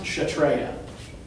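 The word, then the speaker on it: Kshatriya: okay it's spelled like this and it is pronounced chatreya and those are like the Warriors yeah so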